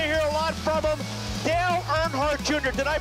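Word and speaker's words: Dale Earnhardt Jr.: Dale Nhard Jr. Did I pronounce that right?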